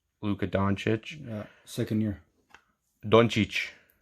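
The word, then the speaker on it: Dončić: doncic yeah second year don is how you say it in serbian yeah that's right not donkey he's slovenian is he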